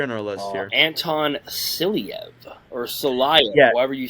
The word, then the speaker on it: Silayev: Anton Silyev, or Silayev, however you say his name. Silayev.